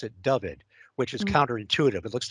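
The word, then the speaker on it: Dyfed: the writers uh say which you're supposed to pronounce it David which is counter-intuitive it looks like daifet but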